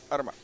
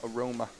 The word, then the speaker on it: Arma: I've learned how to say his surname. Basically, you just open your mouth and make a few sounds, and that's pretty much good enough. Arma. Juha Arma. I was calling him Aroma for a bit of fun.